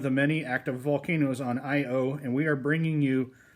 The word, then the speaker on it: Io: Anyway, a lot of you guys have probably seen this sauce, and for those of you that haven't, the description says Io, pronounced I-O, is the innermost moon